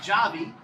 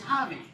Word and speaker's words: Javi: him up qc holly it's not with an h it's a j but it's spelled it's pronounced hobby so go ahead it